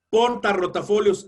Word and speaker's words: portarrotafolios: Portarrotafolios, en una está, ambos son fuertes, una está entre vocal y consonante y la otra está entre dos vocales.